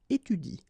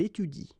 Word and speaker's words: étudie: to pronounce it correctly, you should pronounce it like il étudie. Okay, so the last thing that you will pronounce will be the vowel I here. Okay, il étudie. You don't pronounce this here.